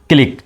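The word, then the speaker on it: clique: শেষে সুতরাং দেবো ক তাহলে হয়ে গেল কি ক্লিক তো সি এল আই কিউ ইউ ই ক্লিক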